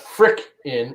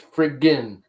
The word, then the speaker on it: friggin: There's 2 G's, not K's. It's Friggn. Friggin. Spell it right. It's not frick in, it's friggin.